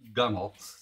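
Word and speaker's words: gunwale: And then you put the, it's spelled gun whale, but it says it's pronounced gunnel.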